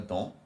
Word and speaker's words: dans: Usually the last letter is not pronounced. However, based on the rule that we just discussed, because it's one syllable and the word that follows after dans starts with a vowel, you do la liaison. So dans une grande boîte. So you say le cadeau est dans une grande boîte bleue. You pronounce the S in this instance.